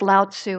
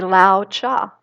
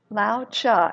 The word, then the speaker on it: Lao Tzu: Well, Lao, I always thought it was Lao Tzu, and I actually listened online to the correct pronunciation, and it's actually Lao Cha. Lao Cha is how it's pronounced in the Tao Te Ching.